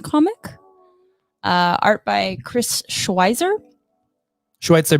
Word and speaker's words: Schweizer: Schweitzer, baby. There's no T in it.